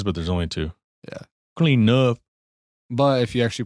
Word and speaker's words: CleanNuff: there's only two Yeah clean enough but if you actually pronounce it it's clean enough it's clean enough clean enough clean enough clean enough there's no e there's no extra N Clean enough Mr Charles